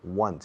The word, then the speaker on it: once: I go to Morocco about once, una vez, once, como el número 1, one, con una sonido de S al final, once. Se escribe 11, se pronuncia como 1 más un S, once.